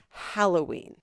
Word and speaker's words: Halloween: Eve, or right, like it comes from the word hallow, and no one pronounces hallow hollow, because hollow is a completely different word and meaning.